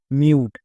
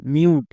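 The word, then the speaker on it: mute: টো, তাহলে মিউ plus টো, মিউট। শেষের ই silent, তাহলে এর উচ্চারণ কি দাঁড়ালো? এম ইউ টি ই, মিউট।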